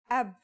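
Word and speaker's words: أب: a new word can you read this it's pronounced AB this is the word for father in Arabic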